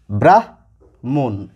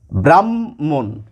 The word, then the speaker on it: ব্রাহ্মণ: হ পরে রয়েছে ম তাহলে এই শব্দটির উচ্চারণ হওয়া উচিত ব্রাহ মুন এইরকম আর কি অর্থাৎ হ আগে আসার কথা ম পরে আসার কথা কিন্তু এই হয় মা যখন কোন শব্দে থাকে তখন হ এই বর্ণটি আগে উচ্চারিত হয় না আগে উচ্চারিত হয় এই ম এই বর্ণটি এবং আমরা সাধারণ কথাবার্তার